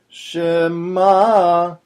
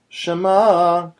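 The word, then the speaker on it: שמע: So you're not saying Shema or Shema. You're saying Shema.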